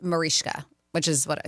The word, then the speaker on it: Mariska Hargitay: But she said often incorrectly pronounce the way it's spelled, Mariska. But she says her is properly pronounced Marishka, which is what I said, Marishka. Sure, but a lot of people say Mariska Hargitay.